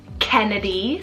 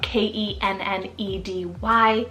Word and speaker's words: Kennedy: sweet and AC means the one or Unity Kennedy spell k-e-n-n-e-d-y Kennedy this is another one just like Sadie